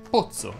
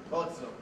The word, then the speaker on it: pozzo: Quando le parole terminano in ozza, ozze, ozzi, ozzo, la O che sta prima delle due Z andrebbe pronunciata aperta. Infatti dovresti dire tinozza, maritozzo, bozza, abbozzo, nozze, cozza e così via. Ci sono però alcune eccezioni, sono le parole mozzo, sozzo, rozzo e pozzo.